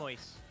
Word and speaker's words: Camões: You're gonna have to tell me how to pronounce that. Camões.